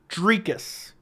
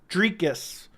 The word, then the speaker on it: Dricus: It is Dricus Du Plessis. That is how it's pronounced. So in case you're ever wondering, I am pronouncing it the right way. Dricus. Dricus. Almost like tree, if that makes sense.